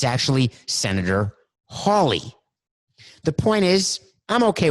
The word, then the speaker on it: Hawley: loyal, who said, by the way, it's Senator Hawley, not Senator Howley. I got it wrong. I said Senator Josh Howley. It's actually Senator Hawley.